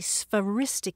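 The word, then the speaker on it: sphairistike: Charles hope probably used used is speris oh spell that s p h a r i s t i ke speris it comes from Greek and it's an old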